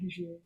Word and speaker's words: Hejira: So I'm going to keep saying Hejira.